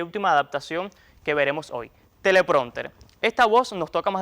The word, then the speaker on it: teleprónter: Conviene recordar además que, como se ve, se escribe con tilde en la O, pues se trata de una voz llana terminada en consonante distinta de N o S.